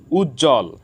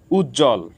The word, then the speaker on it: উজ্জ্বল: সাথে বফলা যুক্ত হয়েছে যুক্ত ব্যঞ্জন বর্ণের সাথে বফলা যুক্ত হওয়ার কারণে এখানে ব ফলার উচ্চারণ হয়নি উজ্জ্বল সান্ত্বনা এখানে যুক্ত ব্যঞ্জন